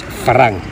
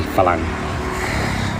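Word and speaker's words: ฝรั่ง: And by the way it's spelt in Thai, there is an R in there. Thai people are a bit lazy to roll their R's. So, correctly speaking, it's phalang, but they just say phalang.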